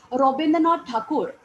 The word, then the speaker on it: Rabindranath Thakur: Rabindranath Tagore, in Bengali, he was renowned as Rabindranath Thakur. Okay, the pronunciation goes that way.